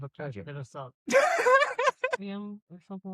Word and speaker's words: Nxivm: It's spelled do you- Nxivm. Really fucking weird. How do you say it? Nexium.